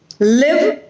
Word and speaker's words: live: If you listen to these sounds very closely, you will feel the difference between the long E sound and the short E sound. So, fit, feed, bit, bead, live, leave.